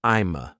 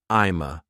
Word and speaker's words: I'ma: If we add I'm to gonna, we can reduce it to I'ma. So now, I'm going to becomes I'ma.